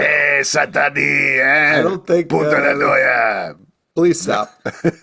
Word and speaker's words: Cent'Anni: We're going to be talking about the Penguin episode 4, Sent Ani. You got to pronounce it like Watto does in Phantom Menace. Do you? It's Ani. It's a reference to Watto. Hey, Sent Ani.